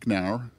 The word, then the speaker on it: Knauer: Russ is a partner at Wilkinson, Barker, and Knauer. Is that the way to pronounce it?